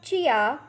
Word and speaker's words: jia: The next Pinyin is Jia, has a pronunciation of Chia. Repeat after me, Chia.